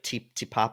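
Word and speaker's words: Te Papa: It's like Tipapa. I don't know if I'm saying it correctly. Tipapa, yes.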